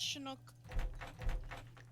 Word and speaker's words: Chinook: It's pronounced Chinook.